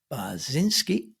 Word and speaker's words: Bachynski: gonna do that again that's the Polish pronunciation that was actually perfectly correct in in the Ukrainian polish pronunciation yes oh okay I'm going